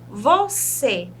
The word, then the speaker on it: você: E a palavra você, nós temos um acento circunflexo. Na minha época, a professora chamava de chapeuzinho. O você vai trazer aí um tom mais fechado para a letrinha.